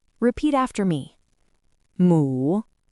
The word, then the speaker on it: 母: And now you've learned how to write mu. Let's practice reading it. It is pronounced in the 3rd tone. Repeat after me. mu, mu, mu.